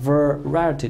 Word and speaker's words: variety: 的读音啊 variety 这个单词每一个字母它都有发音 variety 这是一个名词，表示什么呢？